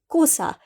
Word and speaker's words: Xhosa: up with the language cannot do the clicks that is well known in isiXhosa, but it is usually pronounced with Xhosa if you cannot pronounce the clicks.